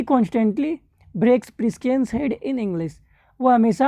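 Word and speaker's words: Priscian: Broke प्रिसियंस head, ठीक है। Broke प्रिसियंस head या प्रिस्कियंस हेड होता होगा, सॉरी।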